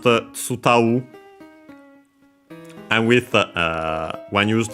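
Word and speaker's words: 伝う: And then this tsudau, on its own, actually you pronounced tsutau.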